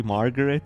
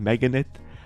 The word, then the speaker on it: Margaret: back home meganet Bros I just realized I've been saying his name wrong the entire time his name is actually Margaret and I've been saying meganet I've misread it every